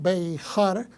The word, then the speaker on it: Behar: en este sábado compartimos la pareja llamada bajar algunos pronuncian bajar que prácticamente es en el